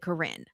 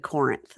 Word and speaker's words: Corinth: And they're By the way, Corinne is spelled Corinth, but they all, in case anyone comes to correct us, they all seem to pronounce it Corinne.